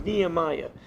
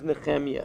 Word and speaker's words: Nehemiah: In English, they pronounce it as Nehemiah. In Hebrew, his name is Nehemiah.